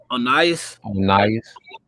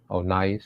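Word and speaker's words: Onias: Is it Oias? Onas. Yeah. Onas.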